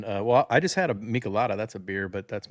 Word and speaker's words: Michelada: I'll be having well, I just had a Michelada. That's a beer, but that's my last beer of the day. So I'll just be having some vodka. Wait, how did you say it? Michelada.